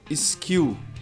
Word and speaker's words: skill: Olha o L. Tem L, não tem L? Então vamos pronunciar o L. Skill e não skill. Então dois erros geralmente. A palavra começa com s. A gente tem uma tendência a colocar uma vogal antes.